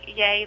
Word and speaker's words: YEA: The Young Entrepreneurs Academy, pronounced YAY, but it's spelled YEA, is a groundbreaking program that transforms middle and high school students into real, confident entrepreneurs.